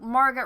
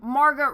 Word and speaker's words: Margot: Margot Robbie I know I always say it wrong I apologize I'm American when you put a T at the end it's hard not to want to say it but to make someone